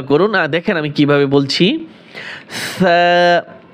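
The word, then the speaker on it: ث: দেখেন আমি কিভাবে বলছি সা অনেকে বলে ছা হবে না সা নরম করে সা সা এরপরে জিম এখানে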